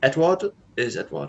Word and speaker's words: Edouard: We'll go for, I always get his first name wrong, Edouard Mendy. Edouard, isn't it?